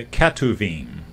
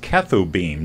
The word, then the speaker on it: Ketuvim: Okay, and then the K in Tanakh stands for the Ketuvim, also pronounced Ketubim, depending on who's doing the pronouncing.